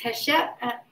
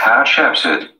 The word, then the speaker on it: Hatshepsut: Also, the most famous leader here, and I never pronounce her name right, and I said her, and that's correct. It's Hatshepsut.